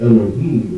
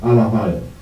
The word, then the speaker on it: Elohim: In Hebrew, the word for powers is not Elohim, it's Allahayim. Allahayim.